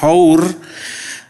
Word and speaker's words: hour: hurufnya ditulis 10 siapanya tidak ada aw nah dibacanya hours eh ial dewasanya ada esnya tidak diucapkan Ilen